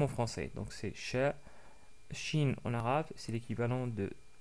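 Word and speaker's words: ش: c'est aussi facile car c'est l'équivalent du son ch dans la langue française donc c'est exactement pareil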